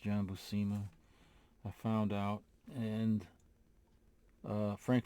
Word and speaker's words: Buscema: I see it as a cross between John Buscema, and it is pronounced John Buscema, I found out, and Frank Frazetta.